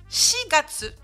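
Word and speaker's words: 四月: Le quatrième mois est irrégulier, ici ça va se prononcer Shigatsu.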